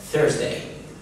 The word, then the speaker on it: Thursday: ويوم الخميس دي أنا قلتها كذا مرة في كذا فيديو، مش Thursday، هي Thursday.